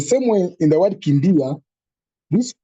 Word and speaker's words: kimbia: Yeah, we have a word like Kimbia. Kimbia.